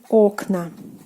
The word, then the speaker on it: окна: Окно meaning window, окно, but the plural form will be окна. Окна. So now in the plural form the stress falls on the first syllable.